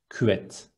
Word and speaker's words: küvet: In Turkish, it is küvet. Two short syllables. Be careful, it is not küvet. It's ü with dots, so we need to read it as küvet.